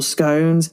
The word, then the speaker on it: scone: Is it scone or is it scone? Again, it could be an it's very often a geographical divide, but either is correct.